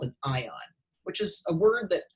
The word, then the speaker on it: anion: can have an anion so that's pronounced anion which can have which